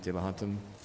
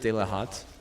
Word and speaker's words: De La Hantem: two maybe, Drogans and De La Hantem. Some people say just De La Hat. Some people say the EM is silent.